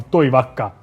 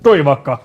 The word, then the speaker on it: Toivakka: Toivakka. Yeah. I was afraid to Only pronounce it wrong. pretend that you can speak Finnish and it will sound like Toivakka.